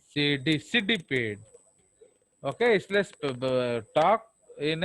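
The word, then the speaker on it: Cydippid: तो अगर इनडायरेक्ट है तो लार्वा कौन सा है, साइडिपिड। सिडिपिड। ओके, इसलिए talk in A proper pronunciation.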